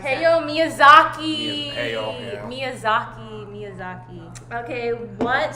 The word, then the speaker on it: Hayao Miyazaki: Heyo Miyazaki. Hayao Miyazaki.